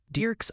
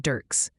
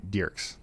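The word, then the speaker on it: Dierks: Multiple viewers are saying it's pronounced Derks, Arkansas, like a deer, not Dirks. And yes, Ryan, they still want tomorrow's forecast like yesterday. Okay. All right, Derks.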